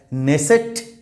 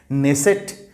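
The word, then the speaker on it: Knesset: four options আর দেয়ার নেসেট কে এর উচ্চারণ হবে না এই ওয়ার্ডটা কে এন ই এস এস ইটি এই ওয়ার্ডটা যদিও কে আছে বাট K will be silent নেসেট Baghdad Jerusalem and Beirut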